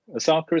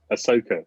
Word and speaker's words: Ahsoka: How do you pronounce the name? Asaka, isn't it? Ahsoka. Close, is it Ahsoka?